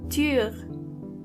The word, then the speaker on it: Tür: This letter is pronounced Ü. To get the sound, start with a normal U and then make your lips even closer to each other.